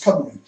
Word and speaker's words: Cymru: But obviously it's spelled with a G. Now, everywhere else, for some reason, it's been softened to a C, and people know it as Cymru.